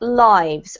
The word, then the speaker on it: lives: own a now a verb so this is pronounced lives our lives our lives yeah if you had